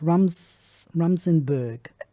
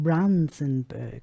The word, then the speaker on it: Runsenberg: It's Rumsenberg. Runsenberg. Oh, Runsenberg. Sorry. With an N.